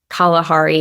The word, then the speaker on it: Kalahari: I have Biltong beef jerky that's grass-fed from Kalahari is how you pronounce it.